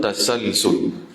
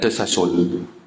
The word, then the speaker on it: tasalsul: dauru dan melazimkan daur awid tasalsulu atau tasalsul bacanya tasalsul ya bukan tersasul ha dia memang sebutan arab dia tasalsul nanti nanti insya-Allah kita ambil faham Faham apa dia daur, apa dia tasalsul.